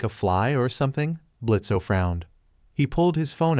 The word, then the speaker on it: Blitzo: know you you're that blitzo imp oh well the O is silent now you tried to